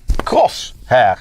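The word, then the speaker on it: Crosshair: So then above that um we have the cross hair series.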